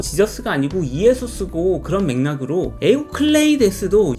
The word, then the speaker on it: 에우클레이데스: 유클리드는 사실 영어로 발음하는 이름이고 원래 발음은 에우클레이데스라고 불러야 한다고 하는데요. 원래대로라면 시저가 아니고 카이사르고 지저스가 아니고 이에소스고 그런 맥락으로 에우클레이데스도 유클리드라고 무식한 미국인들이 지멋대로 부른 거죠.